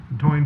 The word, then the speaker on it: Toyne: Item L, considering a resolution approving payment, is that pronounced Toyne? Is that right? Yep. Yep. Toyne pumper tanker truck.